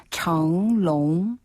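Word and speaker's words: 成龙: 한자를 그대로 발음한 방법인데요 그렇게 발음하시면 안 되고 정롱 정롱 정롱 정롱네 이형 걸 씨는요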